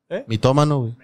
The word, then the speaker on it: mitómano: mitómano geey Sí güey tiene acento en la o estás geey acento la o primera en la Sí en la primera después de la t mito ma mitomanía mitomanía